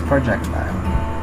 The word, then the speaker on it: projectile: is about projectile motion some pronounce it as projec so we pronounce it as projectile all right so in